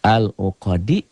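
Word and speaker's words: العُقَد: Kalau dal ini membacanya dihentikan. Al-uqadi dihentikan jadi ada sukunnya. Seakan-akan. Al-uqad. Tuh.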